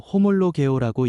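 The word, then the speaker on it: ὁμολογέω: 시인은 헬라어로 호몰로 개오라고 읽습니다. 같은 말로 고백한다.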